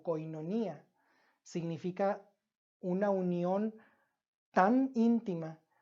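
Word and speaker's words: κοινωνία: unidad la unidad que en griego se pronuncia como koinonía significa una Unión tan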